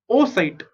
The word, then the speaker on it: oocyte: Okay, oocyte. How do you pronounce this? Oocyte. Double O ko you will pronounce O. CYT is site.